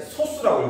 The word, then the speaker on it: 소수: 자, 근데 쓰기는 소수라고 쓰는데 읽을 때는 소수라고 읽어야 돼. 읽을 때는 소수. 그러니까 우리가 배우는 처음 배운 0. 얼마냐면 이런 소수가 아니고 소수입니다.